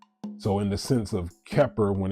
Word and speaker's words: Kheper: And those 3 syllables are ke, pe, er. Ke, pe, er. And when you contract it, it becomes Kheper.